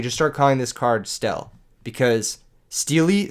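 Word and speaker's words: Stele: Remember, we're pronouncing it Stel now.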